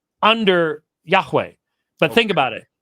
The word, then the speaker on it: Yahweh: pointing for Adonai under Yahweh but think about it Yahweh is a two syllable word Adonai is a three